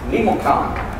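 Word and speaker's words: Memucan: is named member Khan I've always called him you can it's Nemo Khan nevertheless you try to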